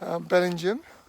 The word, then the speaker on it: Bellingham: Bellingham, just down a bit there, to Burness. I'm reliably informed that's how you pronounce both of those names.